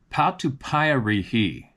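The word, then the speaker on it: patupaiarehe: the indigenous people here, the Mari called them Patupy. Patupy. Patri. Okay. And there are a few stories about them around. So, it's spelled P A T U P A I A R E H E.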